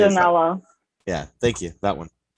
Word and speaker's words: Manganiello: Jason Momoa, Joe Manganiello. That's how it's pronounced, right? I know Manganiello. who it is. I just never know how to say it. Manganiello.